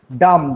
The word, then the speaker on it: dumb: Then you can see dumb. The word B is stop to be pronounced when it is placed after M in a word and it is the last letter.